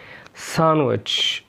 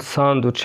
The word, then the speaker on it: sandwich: اوكي، نيجي بعد كده حرف ال D بيكون silent في كلمات زي اللي جاية دي handsome Wednesday، برضو كلمة handkerchief handkerchief منديل sandwich sandwich. وعلى فكرة ينفع تقول sandwich عادي، بالامريكان تقول sandwich لكن بالبريتش sandwich sandwich.